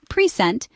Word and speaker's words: present: If we stress the first syllable, present, it refers to a gift.